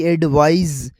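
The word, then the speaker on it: advise: अब दूसरा वर्ड है एडवाइस, जो आखिर में SE लगता है, उसकी प्रोनाउंसिएशन होगी एडवाइज।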